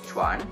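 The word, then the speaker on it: 犬: Nah, itu bacanya jadi cuan.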